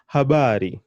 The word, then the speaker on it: habari: Not habri, there's nothing like habri in Kiswahili. It's habari, habari, habari. So you can hear that the emphasis is going on the bar.